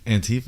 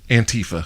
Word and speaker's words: Antifa: Antifa is how you pronounce it? Antifa. Yeah, It's it's Antifa. anti-fascism. I thought it was anti-fa.